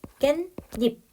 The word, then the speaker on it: 깻잎: 니은이 점가 된다는 거예요 깻잎 깨 플러스 입이 앞에 말에 받침이 없으니 울림 소리로 끝이났습니다 자 뒤에 말이 이로 시작을 하게 되네요 즉 초성이 없고 모음으로 시작하죠 자이 경우에 니은 니은이 덧나서 깬닙 요렇게 발음이 난다는 거 자 그리고 마지막 다섯